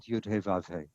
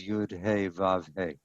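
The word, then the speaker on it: יהוה: Number 3, he sets up a contest between Baal and Yud-He Vav-He. That's how I pronounce that 4-letter name, just sounding out the Hebrew letters, Yud-He Vav-He.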